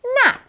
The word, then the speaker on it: gnat: So sign, gnome, and nat all use the N sound.